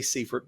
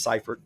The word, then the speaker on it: Seifert: So I want you to know that you're in the majority, and that majority is, most people say Seifert, but it is Seifert. The E is silent, and I don't come from the George Seifert family, unfortunately, and so here I am.